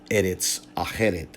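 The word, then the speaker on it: ארץ אחרת: The point here is that what is now pronounced as Eretz Aheret may have been pronounced in antiquity, may have been pronounced by the translator who rendered it into Latin as Artsareth, right?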